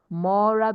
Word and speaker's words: mora: Ela mora, mora because it is more ra. So the second to the last syllable will be stressed.